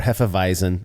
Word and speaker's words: Hefeweizen: Same thing with Weissbier or Hefeweizen. The V in Germany or the W in Germany makes more of a V sound.